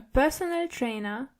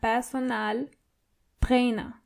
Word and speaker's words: Personaltrainer: So it's similar, but you have to roll your R one more time. Der Personaltrainer. And the A in personal is more obvious than the English version. Personal.